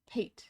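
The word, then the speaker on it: pâté: Pate, but you pronounce the E at the end.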